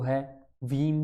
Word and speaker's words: Hveem: अब बात करते हैं नए मेथड की, वो है वीम स्टेबिलिटी टेस्ट. इसको कोई हवीम कहते हैं, कई वीम कहते हैं. मेरे हिसाब से तो एच थोड़ा बहुत साइलेंट रखो. Vim stability test.